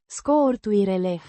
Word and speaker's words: scurturile: added, pronounced Scurt-uireleh. with stress on the second syllable.